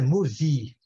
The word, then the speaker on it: movie: bem claro né ouvindo os brasileiros têm tendência de falar move tá muita tendência de